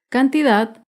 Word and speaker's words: cantidad: Cantidad se acentúa en la última sílaba, pero no lleva tilde porque no termina ni en vocal ni en las consonantes N o S. Cantidad.